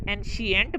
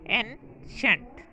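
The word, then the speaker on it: ancient: हम इस लफ्ज़ को अक्सर एंशियंट पढ़ते हैं जो कि गलत है। दुरुस्त प्रोनाउंसिएशन है एंशेंट, कदीम।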